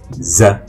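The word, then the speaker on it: زاي: RA la deuxième lettre c'est le Z ça se rapproche un peu du Z en français he ça fait za za za il a un point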